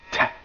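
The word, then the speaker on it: تاء: It's pronounced like a clear frontal English ta, but unlike ta in English, no aspiration in pronouncing it.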